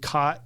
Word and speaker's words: caught: Like in my southernness I pronounce cot c o t and caught c a u g h t the same. Those are homophones to me. They're two separate words that are pronounced identically. Mhm. But to my Ohioan father they were definitely not.